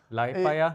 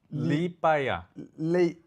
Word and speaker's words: Liepāja: Liepāja? Even I don't Li Liep Liepāja.